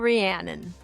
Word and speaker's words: Rhiannon: many times in my head, I'm going to mispronounce it. So give us your full name, Rhiannon.